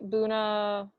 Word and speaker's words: Bunnahabhain: The one on the top right, Bunnahabhain. Bunnahabhain. Say that when you're drunk a few times. Bunnahabhain. Bless you. And yeah, so and actually this is an outdated map, because between Bunnahabhain and Kalila there is a new distillery called